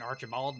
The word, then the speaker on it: Archibald: I pronounce it Archibald, but honestly, I'll answer just about anything as long as it's close enough.